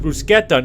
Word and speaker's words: bruschetta: is a crime, and it's pronounced bruschetta, not bruschetta!